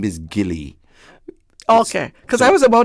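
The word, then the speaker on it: Gillie: me and they would say, "Miss Alice, where Gile say you all come here Gile?" His name is not Gile. His name is Gilly.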